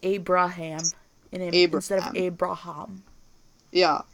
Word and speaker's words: Abraham: In English, pronounced Abraham.